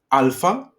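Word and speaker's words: άλφα: of the alphabet okay it's alpha okay um and the sound that it makes is a okay then we have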